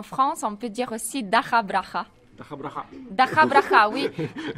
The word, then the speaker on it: DakhaBrakha: Tout d'abord, comment prononce-t-on correctement le nom du groupe ? Мы в Украине кажемо Даха Браха.